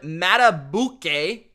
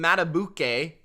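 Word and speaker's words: Madubuike: rams unnecessary roughness on mata bouquet justin mata bouquet i believe is how you pronounce his last name number 92 the titans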